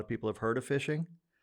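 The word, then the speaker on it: phishing: people have heard of fishing um it's spelled pH I don't know why but uh but um basically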